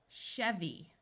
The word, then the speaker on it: Chevy: long E sound, machine, Chevy. A Y at the end of a longer word usually has a long E sound.